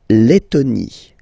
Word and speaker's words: Lettonie: So remember when you've got this E and then a double letter like that, T, okay, then you will have to open your E and it will become E, le, Lettonie. La Lettonie.